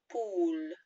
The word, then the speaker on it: poule: So first of all we have here la poule, la poule, poule, poule, a bit like pool, but a softer P and a more deep oo.